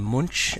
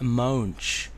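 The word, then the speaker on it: Moench: fancy as I thought actually I called him munch I know there's munch and mint apparently it's pronounced moans Oh Oh em and then - Oh H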